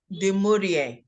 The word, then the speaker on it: du Maurier: critics thank you so the name of the author is Daphne Di Maria that's how you say it not so for our